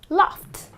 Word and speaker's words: laughed: the sound F okay though it's spelled as GH but the sound is laugh okay the uh ending sound is the F sound kissed watched washed liked